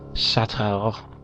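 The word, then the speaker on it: Château: Chateau. Gotta say it with like an accent, otherwise it doesn't sound right.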